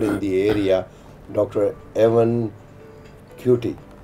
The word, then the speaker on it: Kituyi: Evans Kituyi. It's right pronunciation? Kituyi.